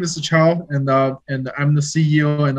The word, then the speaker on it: Chao: Am I pronouncing it right? That's very right. Just Chao. Chao.